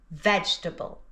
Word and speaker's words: vegetable: 3 syllables, veg-ta-ble, vegetable, vegetable. And here's the written form. When you see it written down, it looks like it has 4 syllables, but we only pronounce 3.